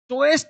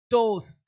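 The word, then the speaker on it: toast: अगला पॉइंट जबकि शब्द में ओ ए ओ ए का उच्चारण ओ होता है। देखो अब यहां ओ ए है तो ओ ए नहीं पढ़ना। ओ गोल क्या बोलेंगे? गोल टॉयस्ट नहीं टोस्ट रोए नहीं रोड।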